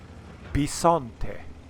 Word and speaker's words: Bisonte: this particular tank b-i-s-o-n-t-e now the letter i in italian is pronounced e for example the letter two letters ch together is pronounced k there is no k in italian uh but the letter i is pronounced e so this tank is called the b son the letter i is e it's also complicated no it's simple bisante that's what it's called which in italian